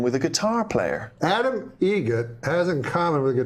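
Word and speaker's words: Eget: How do you say the name? Adam Egget. Egget. Spelt differently. Like the bird.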